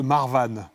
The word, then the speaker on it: marovany: Moi, il y a un dérivé de la vali que j'adore, c'est le Marwan. Oui. Qui s'écrit Marovani.